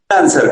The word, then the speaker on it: Nanser: ¿Está bien pronunciado, Nanser? Nanser, como... Ah, bien.